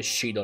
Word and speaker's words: Xidol: impedirlo Allora xidol si dovrebbe pronunciare sidol Vabbè continuo a dire xidol perché comunque la pronuncia un po' incerta ma teru voleva uccidere